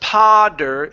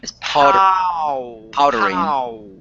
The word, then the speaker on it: powdering: Yeah, so it's not podder, it's powdering. Powdering. Yeah. Okay. Yeah, so you need to pronounce an oo right before you get to that D.